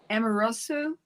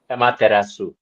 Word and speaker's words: Amaterasu: And the goddess that I got for you is Amorosu. Is that right, Heather? Amorosu? I've heard it pronounced Amaratsu.